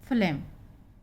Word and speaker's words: phlegm: और ये है PHLEGM, अभी पीछे आपने शब्द पढ़े PH से फा, तो ये होगा इसका उच्चारण फ्लेम।